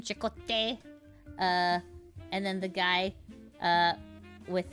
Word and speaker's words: Chakotay: I know how to say his name, Chakotay.